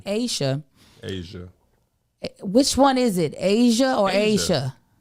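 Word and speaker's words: A'ja: It's not AJA? It's pronounced Asia.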